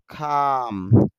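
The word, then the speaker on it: calm: ডাকা বা ফোন করা খাম শান্ত এখানে খেয়াল করেন যে এল আছে এল এর উচ্চারণ হবে না আর যেহেতু উচ্চারণ হবে না এজন্য এখানে একটু দীর্ঘ উচ্চারণ হবে বলতে হবে খাম শান্ত আরেক কাম আছে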